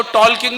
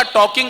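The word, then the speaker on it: talking: मैंने कहा वो टॉलकिंग नहीं होता, टॉकिंग होता है, एल साइलेंट होता है।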